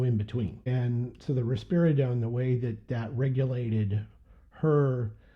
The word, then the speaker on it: risperidone: But we have him on what they call, I think it's called risperidone, I think is how you say it. Risperidone.